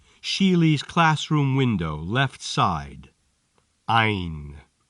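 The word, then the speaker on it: عين: Ein. This letter is pronounced like I, with a bit of an N at the end.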